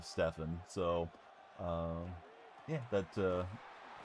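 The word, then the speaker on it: Stephen: first deal with them, they pronounced his name Stfan, like Stfan Urkl for anybody that remembers Family Ties instead of Stefen.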